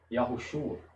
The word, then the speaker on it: Yahushua: Yahushua. Yahushua. Perceba que eu pronuncio o O, esse O, porém, ele é quase inaudível. Quase você não sente e não ouve.